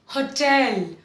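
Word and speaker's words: hotel: It's called a होटल, होटल, नॉट होटल। होटल नहीं है, हम लोग होटल में गए थे, गलत। आप क्या बोलेंगे, होटल। इसको मैंने तोड़ के लिखा है हो टेल, टेल हम कहते हैं टेल, बात करो टेल, और उसके पहले हो, लाइक हिंदी में होगा, होना, वही वाला हो लगा लीजिए, हो टेल, हो टेल।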